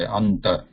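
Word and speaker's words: अन्त: So here there is a ta here, and before that there is a, we want to pronounce a nasal sound, and this nasal sound cannot be pure nasal. That is anuswara. Anuswara is pure nasal. Here we need to pronounce na, which is also nasal, but it is also a dental.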